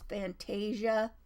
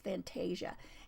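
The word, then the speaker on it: Fantasya: it's from Etsy and I believe she probably pronounces the name of her store as Fantasia digitals but it's f a n t a s y a digitals so I think it's Fantasia and this one is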